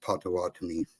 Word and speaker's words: Potawatomi: So it's actually pronounced Potawatomi.